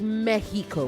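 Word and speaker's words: México: It is Mexico when you speak in Spanish, when you actually pronounce it the Spanish way because it is a Spanish word.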